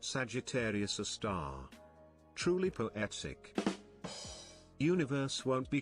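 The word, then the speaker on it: Sagittarius A*: Sagittarius A, pronounced Sagittarius a star.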